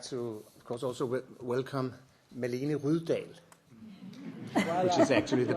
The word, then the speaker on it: Malene Rydahl: And I would like to, of course, also welcome Malene Rydahl, which is actually the pronunciation.